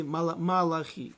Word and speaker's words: Малахи: Но Мелахим, не царей. Книги Малахи, пророка Малахи. Вот. Правильное ударение поставил, все стало сразу на место.